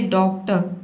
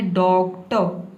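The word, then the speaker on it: doctor: आप ये ना बोले डॉक्ट। डॉक्ट नहीं बोलना है। आपको बोलना है डॉग ट।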